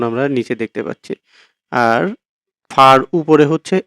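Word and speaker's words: ف: ফা উচ্চারণ হয় হচ্ছে নিচের ঠোঁটের পেট সামনের উপরের ২ দাঁতের আগার সঙ্গে লাগিয়ে ফা, আর কফ হচ্ছে জিহ্বার গোড়া তার বরাবর উপরের তালুর সঙ্গে লাগিয়ে কফ, কফ।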